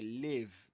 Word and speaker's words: live: and in that case you say live with a short I live this one happening right there not recorded nor pre-recorded this is live Five.